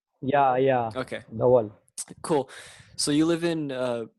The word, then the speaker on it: Dhaval: So Deval, am I pronouncing that right? Deval? yeah. Okay, Dhaval.